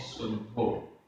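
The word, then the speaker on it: सुद्धो: शुद्धो हिंदी में होता है शुद्धो और यहाँ प्राकृत में है शुद्धो, सड़क वाला सा।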